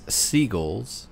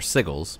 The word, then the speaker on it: sigil: they all right well you get these seagull or sigal sorry is that how you say it seagull cull yeah cull um